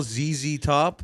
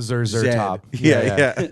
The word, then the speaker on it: ZZ Top: is like zzy top I don't think it's called zed z top like I think it's still ZZ Top but it is pronounced in Canada and England Zer top I got you that's